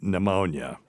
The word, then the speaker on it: pneumonia: So words beginning with PN or PS have silent P in English such as psychology or psalm and pneumonia and um you know other words with silent ps include uh like pterodactyl and raspberry is a good one too.